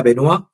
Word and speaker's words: Benoist: Se escribe Benoist, pero se pronuncia Benoisa, la eh y él